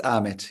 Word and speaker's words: Ahmet: Or is it Ahmed? Hello. It is Ahmet. Yes. Ahmed. Yes. Usually in Turkey, we don't pronounce the H, so it's Ahmet.